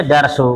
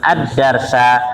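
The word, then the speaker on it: الدَّرْسَ: Ma liannahu maulun Bih dikarenakan dars itu maful Bih maka bacanya kataba ahmadu addarsa lah kataba kan fi'il madhi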